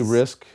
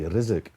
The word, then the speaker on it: Rizk: I just say Risk, just to make like it the game. easy on people. But the official pronunciation would be Rizk.